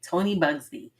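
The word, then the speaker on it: Tony Buzbee: Tony Bugsby, who was an attorney in Texas who brought like over 125 cases against Sean Combs, aka Diddy, right?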